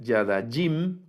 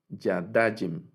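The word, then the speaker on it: יָדַיִם: Entonces, y luego el dual, Yadajim, noten que no es Yadajim con el acento hasta el final, Yadajim, sino Yadajim. Yadajim es la pronunciación. Eh, el acento va en la penúltima sílaba cuando es el dual, ¿verdad?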